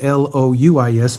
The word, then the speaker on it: Louis: And his middle name is not Lewis, it's Louis, because Joe Louis was the heavyweight champion of the world, I believe, at the hour of his birth.